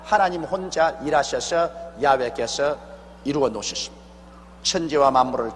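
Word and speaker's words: 야훼: 지어 성취하는 야 하나님이신데 야라 해도 좋고 여호와 좋습니다 그러나 야외라 말이 더 정확한 발음입니다 이런 하나님께서 시작하셔서 하나님께서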